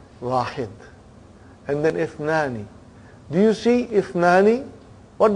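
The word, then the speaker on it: اثنان: What do you see in the Hamza? Is it Hamzatul Qata or Hamzatul Wasal? It is Hamzatul Wasal. We have to take note of it. That Ithnani, the Hamza is Hamzatul Wasal. If it comes in the beginning, it is pronounced. If it doesn't come in the beginning, then it is assimilated.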